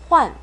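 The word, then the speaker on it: 换: 자주, 환 사성으로 H-U-A-N 환이라고 읽어서 교환하다라는 뜻이에요.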